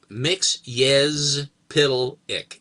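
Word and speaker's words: Mxyzptlk: And then he phonetically he went mix I uh y z uh p i d l e p i c k. Mix pitic.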